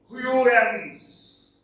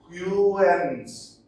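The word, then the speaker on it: Houyhnhnms: This is pronounced Huygens. Huygens. Okay, Huygens.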